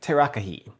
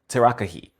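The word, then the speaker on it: tarakihi: Now this fish, and I apologize for the pronunciation already, it is in the description, but it's Terakihi. Terakihi.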